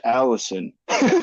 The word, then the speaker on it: allicin: Now the cool thing about garlic is it contains allicin, which you probably know, but I looked up the pronunciation.